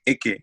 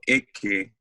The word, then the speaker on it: Eke: You know, people are always like, you know, how do you pronounce that? You know, I'm like Ike, you know, Ike.